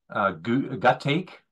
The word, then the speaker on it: gutache: going to call out, there is gut take, which is all one word. It's spelled GUTACHE, and every time I looked at it, I was like, what is that, you know, what is it? And then of course you break it apart, gut ache, and this